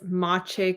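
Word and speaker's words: Maciej: can't never pronounce it it's mache cuchiara um so you spell that as m-a-c-i-e-j yeah and his last name is k-u-c-i-a-r-a um and anybody who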